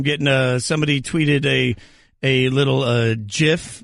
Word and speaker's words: GIF: It is pronounced GIF. So the guy that invented the technology told us all it's pronounced GIF.